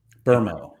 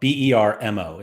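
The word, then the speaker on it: Mbeumo: Burmo is how you say his name. Buemo? Burmo. Bermo is how you pronounce it. There's no R. Yeah. Can't get on board with that. I was about to say it's a silent R, but it's an invisible R.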